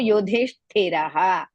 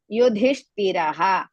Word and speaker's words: Yudhishthiraha: Yudhishthiraha. You is also Hrisva. Dhi, Mahaprana. Hrisva. Shti, again Mahaprana. Yudhishthiraha. You all know that in the end, if the Visarga comes, you have to pronounce.